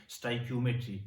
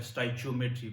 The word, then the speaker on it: Stoichiometry: youtube1 जिसका नाम है स्टाक मेट्री या फिर स्टाइट मेट्री कुछ लोग इस तरह भी प्रोनाउंस करते हैं दोनों अपनी जगह ठीक है सीधा आते हैं इस